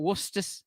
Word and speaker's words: Worcester: But one thing that we did on a show in springtime, I think it was, we did a show where we had Worcester sauce against.